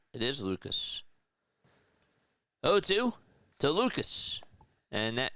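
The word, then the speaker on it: Lukes: Apparently Luke is pronounced Lucas. Weird spelling. Thanks for telling me. As pitch, that's a foul ball. You're right. It is Lucas.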